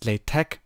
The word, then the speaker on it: LaTeX: however you want to pronounce it but it's pronounced Playtech this gives us the latex expression so you